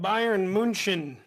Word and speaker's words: Bayern München: Well, Denny, their best team's called Bayern München. That's how you pronounce it.